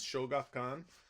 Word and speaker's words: Shogakukan: The Japanese one is, I think the pronunciation is Shogakukan, and this is always available because books are easier to find in Japan.